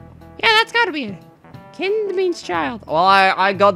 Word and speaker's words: Kind: It's pronounced kind, not kind.